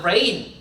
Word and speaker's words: reign: 이 reign은요, religion 이렇게 안 읽고 G가 묵음이야. 다 같이 읽어볼까? reign. 진짜 비오다 rain하고 스펠링 발음 똑같아. 스펠링만 다르고.